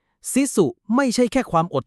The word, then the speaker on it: sisu: เรียก ว่า ซิุ ครับ ออก เสียง ประมาณ ว่า สิุ นะ ครับ ซิสุ ไม่ ใช่ แค่ ความ